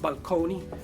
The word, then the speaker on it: balcony: Did you know, fun fact, did you know that the word balcony used to be pronounced balconi because it comes from the Italian, but over the years it was changed.